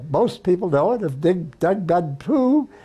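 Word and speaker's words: Điện Biên Phủ: So we backed the French and we know the story most people know it of Doug Benpoo. Digban Pu is that the proper pronunci Yeah.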